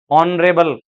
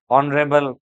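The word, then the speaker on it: honourable: इन सब में H silent है, एच की साउंड नहीं आ रही इसमें, सब में वोवल साउंड आ रही है। Honest, our, एयरएस, ऑनरेबल, heirloom, ऑनरेरियम, ऑनरेरी जॉब।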